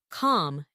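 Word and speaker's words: không: track and always have kung no and co yes in your pocket pronounced calm and ca most locals will appreciate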